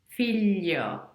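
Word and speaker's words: figlio: l with the gl your tongue is actually gonna rests on your palette filio and that's the difference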